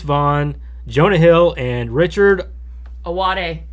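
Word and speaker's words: Ayoade: Ben seller Vince Vaughn Jonah Hill and Richard awade awade I watched him pronounce his own name oh good thank you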